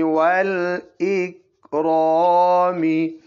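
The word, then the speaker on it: والإكرام: आगे फिर वाव ज़बर वा, वाव के बाद क्या है? हमजा। हाँ, अल, अल इकराम, तो वो हमजा हम साइलेंट करेंगे। इसका गौर का हमजा वसली बोलो, हमजा वसली।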